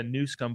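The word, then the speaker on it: Newsom: well first of all you did pronounce it correctly it is a newsum but I think you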